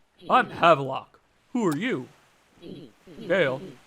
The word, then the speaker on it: Gail: havelock who are you dale that's a good name rhymes with sale i used to be